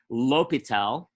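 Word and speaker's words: L'Hôpital: that's not what it is in fact it's pronounced l'hopital l'hopitel was a french mathematician and he wrote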